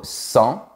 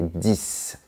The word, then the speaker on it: dix: 6, 7, 8, 9, 10. On est d'accord. Mais attention, quand tu as un mot qui commence par une consonne ou un H aspiré après, tu ne dois pas prononcer la dernière lettre.